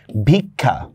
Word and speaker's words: ভিক্ষা: আর ক্ষীয় যদি শব্দের মধ্যে বা শেষে যদি থাকে তাহলে সেটার উচ্চারণ হবে ক খর মতো, ক খ ওকার, ক খ ওকার। যেমন দেখেন আমি বললাম যে ভিক্ষা, মানে এখানে কিন্তু শুধু ক্ষীয় বলতেছি, ক্ষীয় আকার না, আমি বললাম ভিক্ষা, তাহলে কি হবে, বরস্কার